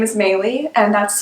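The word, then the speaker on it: Meili: know my name is maylie and that's spelled m m-e-i-l-i i know it's very confusing most people pronounce it incorrectly so i get miley a lot i get melee a lot but yes my name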